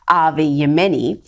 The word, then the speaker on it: Avi Yemeni: aim at rebel news presenter avi let me pronounce his name properly rebel news presenter avi yemeni and in a since deleted tweet a pr